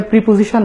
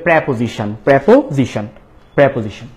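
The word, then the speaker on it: preposition: ছিল না যাই হোক এটা প্রিপজিশন না এটাকে বলতে হবে প্রেপজিশন প্রেপজিশন প্রেপজিশন তো প্রেপজিশনাল ফ্রেজ মানে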